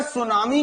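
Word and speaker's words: tsunami: तो क्वेश्चन आएगा सुनामी किसके कारण आती है। सुनामी की इंग्लिश में स्पेलिंग टी से होती है, ठीक है, टी साइलेंट रहता है।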